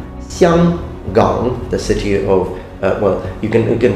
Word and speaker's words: Xianggang: So for example, in Mandarin, the city of Hong Kong is pronounced Xianggang, Xianggang, the city of, you